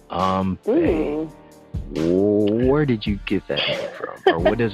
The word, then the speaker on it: AMBE: Guys, it's AMBE. AMBE, exactly. Spelled like it sounds.